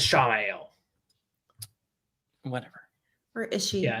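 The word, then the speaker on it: Ishamael: he was sowing dissent within the rebels, like classic Ishmael in the White Tower. Yeah. It's pronounced as Shamael.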